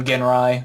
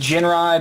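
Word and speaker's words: Jinrai: to or exactly well I tend to call him again rye which is this technically pronounced Jin RI but I don't care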